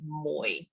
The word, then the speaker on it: Mui: And my name has a diphthong in it. I know it's not even in the English language, but you basically hold the tone. It's a third tone. It's a diphthong, so it's Moi.